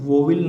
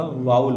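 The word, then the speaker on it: vowel: जैसे एक वोविल नहीं होता, वाउल होता है।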